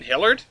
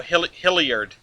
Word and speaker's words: Hilliard: Oh, Hilliard. There's an extra I in there Yeah, that I it's a- wasn't saying.